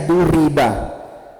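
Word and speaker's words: ضُرِبَ: Duriba bacanya duriba berarti maklum atau majhul itu kira-kira fi'il madi maklum atau majhul?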